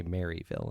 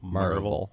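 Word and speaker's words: Maryville: how you say it you don't say marville it's marille mar mar it's uh called Blackberry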